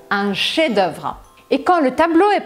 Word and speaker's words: chef-d'œuvre: E se for uma obra-prima, a gente chama isso de un chef-d'œuvre. Se escreve com F, mas você não pronuncia. Un chef-d'œuvre.